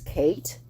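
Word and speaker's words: Cait: also bithia Chris Buchanan Kate c-a-i-t was Kate and c-a-i-t-r-i-o-n-a was Katrina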